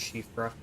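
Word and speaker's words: Siofra: I know it looks like it's pronounced Sealfra, but it's pronounced Shifra. It's Gaelic.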